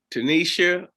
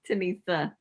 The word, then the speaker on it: Tenesia: of our real estate businesses on board with tanisha give me the correct pronunciation yeah it's okay it's tanissa tanissa with keys reality group and uh